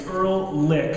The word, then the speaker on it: Ehrlich: Then we have Ehrlich, and that's how we pronounce her last name. It's Ehrlich.